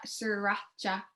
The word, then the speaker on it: Sriracha: Sriracha. Sriracha. That's how you say it. I can't Sriracha.